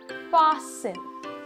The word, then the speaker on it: fasten: you do not pronounce the T in these words soften fasten listen whistle